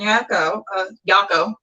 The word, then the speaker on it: Yako: one of my actors, Catherine Yako, rhymes with taco, not rhymes with my last name.